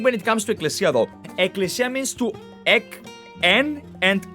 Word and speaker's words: Ecclesia: by the way this this is pronounced as Ecclesia okay they type it with two okay this is written with two C's because I believe that English people have an issue pronouncing two k's in a row I guess Ecclesia means